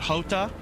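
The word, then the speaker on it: jota: Is it Hota? Okay, yeah, Hota. Hota is how you say J in Spanish.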